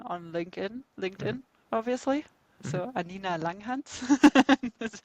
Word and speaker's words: Anina Langhans: about me on on LinkedIn LinkedIn obviously so anina Langan that's how it pronounce yeah and about lip of course on